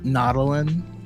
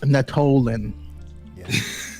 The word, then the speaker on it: Natolin: The way the reader was pronouncing Nautilin Yeah. was sending me. It's Natolin. Natolin. Yeah. Yeah. Way too much emphasis in the middle there.